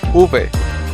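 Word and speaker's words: uve: pronounced in Spanish the letter V is called Ube this sounds is pronounced by brushing your lips against your teeth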